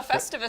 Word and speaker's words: Festivus: Continuing the Festus celebration. The what? A Festivus celebration? Yes. What did I say? Festus.